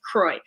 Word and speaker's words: Croix: weather was nice and it's pronounced like troy kroy oh oh my gosh